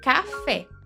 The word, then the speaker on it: café: Oxítonas, sílaba tônica na última posição, por exemplo, café.